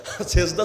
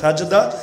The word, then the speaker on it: সাজদা: অর্থ নাই অবশ্যই আছে সেজদা শব্দের অর্থই হলো মাটির উপর কপাল রাখা আরবিতে বলে সাজদা যেটা আমরা বিকৃত উচ্চারণে বলি সেজদা আরবির মূল শব্দ সাজদা ওই সাজদা অর্থই হলো